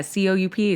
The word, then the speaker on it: coup: Yeah, C-O-U-P is coup. Oh, you learn something every day. Hey. Pointless letter, though.